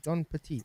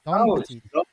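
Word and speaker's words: Don Pettit: not showing John Petit, mate? Come on, John Petit. Don. Oh, there we go. That's why it's spelled wrong.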